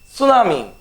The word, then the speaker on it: tsunami: The next word is tsunami. You all know about tsunami, right? Okay, in this particular word tsunami, T is silent, right?